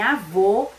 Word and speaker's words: avô: na pronúncia das palavras o acento circunflexo como em avô que tem o som mais fechado e o acento agudo